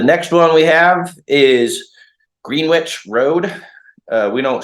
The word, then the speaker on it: Greenwich: very Brash um so we say green witch green witch instead of Greenwich like most everyone else does around the world um that's just a